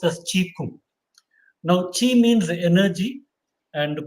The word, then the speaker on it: qigong: as qui-gon q-a-g-o-n that's written in english but pronounced as cheek now chi means energy and kung means exercise